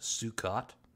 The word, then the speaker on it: Sukkot: I believe it's pronounced Sukkot is the official name of the festival.